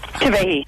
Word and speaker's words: Kavehi: He's got K-A-Y space V-A-Y space H-E-E. Because it's phonetic.